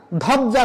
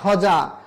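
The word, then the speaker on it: ধ্বজা: এরকম বলা যাবে না ধবজ্জা না ধজা তাহলে এই যে আমি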